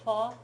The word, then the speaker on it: pho: that's how you pronounce it, pho?